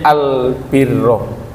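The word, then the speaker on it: البِرّ: taala ngantos dumugi Nami albirro meskipun Jogja hari-hari ini diibohkan dengan perkawis bir Nggih tapi bir di sini mawi syadah Al birro sebab kalau membacanya tidak pakai syadah nanti berbahaya nggih albir albir meniko midangat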